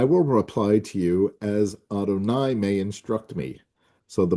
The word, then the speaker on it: Adonai: God as you know has multiple names in the Torah but the two most common are Elohim and Yudhe vave which we pronounce as Adonai.